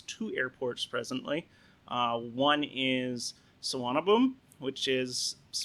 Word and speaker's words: Suvarnabhumi: One is Suvarnabhumi, which is if you read it in English, it will look like it's Savarna Bhumi, but it is not pronounced that way.